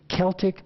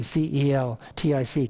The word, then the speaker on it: Celtic: c-e-l-t-i-c celtic sea salt if you're from nova scotia you know how to pronounce that when you see c-e-l-t-i-c celtic not celtic like some people pronounce it on the west coast it's celtic sea salt and you stir that